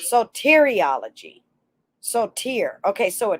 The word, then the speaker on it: soteriology: to say it without saying without hitting the pronunciation again sodatorology no i said it wrong again soteriology soteriology so tear okay so a tear so it's